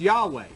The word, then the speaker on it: Yahweh: then through through tradition this yhwh started to be pronounced Yahweh and that's how the